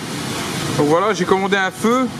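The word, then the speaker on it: phở: Donc voilà, j'ai commandé un feu. Un feu, ça s'écrit comme ça, voilà. P-H-O.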